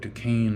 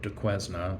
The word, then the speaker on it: Duquesne: sigh pronounced for sales it's amazing to me sometimes that we call it fort de caine and fort and not fort de quezna or de quezna university um though often you'll